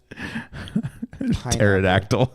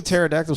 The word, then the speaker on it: pterodactyl: Pterodactyl. Yeah. And that doesn't that have like a Isn't a pterodactyl spelled with a P? Silent P.